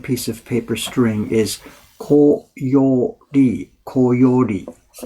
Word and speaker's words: koyori: of paper string, is koyori. Koyori. I guess I didn't pronounce it very well yesterday. It sounded like koi ori, folded fish. It didn't make any sense. So it's koyori.